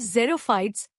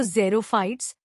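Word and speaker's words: xerophytes: in desert are called जेरो फाइट्स pronounce जीरो since there is very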